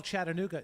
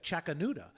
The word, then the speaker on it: Chattanooga: pronounce things correctly like he would call Chattanooga chakuda and I would find myself saying it thinking that was how the city is oh yeah maybe is